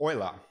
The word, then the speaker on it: Euler: uh to Margaret and Paul Oiler that's oer spelled EU l e r as with